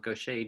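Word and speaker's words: Gaucher: diagnosed me with something called gocha disease which I'll spell it's g a u c h eer was a French doctor named gocha who identified this and around the turn of the 20th century.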